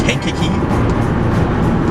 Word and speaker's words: Kankakee: There's definitely a lot going on yesterday, and there was some devastating stuff in, I believe the correct pronunciation of the town is Kankakee, but in that area and eastward of it, it looked pretty devastating.